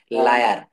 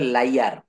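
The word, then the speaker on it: liar: অর্থাৎ এখানে যদি দেখি, যেমন লায়ার, লায়ার এটা উচ্চারণ বলতে হবে লাইয়ার, লাইয়ার।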